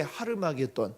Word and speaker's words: 하르마겟돈: 사실 아마겟돈이라는 말은 원래 이제 히브리어인데 히브리어 정확한 발음은 하르마겟돈이라고 하는 그런 말이라고 합니다. 하르가 뭐냐면 산이라는 뜻이에요. 하르 더하기 마겟돈, 그러니까 마겟돈 산, 이게 이제 하르마겟돈, 아마겟돈을 이야기하는 거죠.